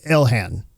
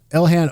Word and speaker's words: Ilhan: Now, speaking of Elan Omar, I'm going to call her Ilhan. I think that's how you say her name. Elhan Omar.